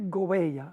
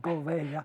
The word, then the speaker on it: Gouveia: Yo no lo puedo pronunciar como es Gouveia. Gouveia.